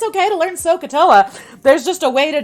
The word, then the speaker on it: SOHCAHTOA: So one way to remember the letters is to sound them out phonetically. SOHCAHTOA, similar to Krakatoa.